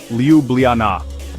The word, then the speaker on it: Ljubljana: Slovenia's capital is Ljubljana, pronounced Liubljana.